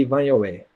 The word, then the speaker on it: Ivanhoe: Aqui em português eles chamavam de Ivanhoe. A pronúncia portuguesa, né?